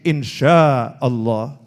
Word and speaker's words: insya Allah: Nah tulisannya INSHA tapi dia bacanya itu insya. Oh keliru nih itu ya. Oh itu pakai shin, insya Allah.